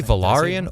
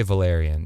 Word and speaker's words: Velaryon: So you can say Velaryon or you can say Valerian. Yeah, both are correct.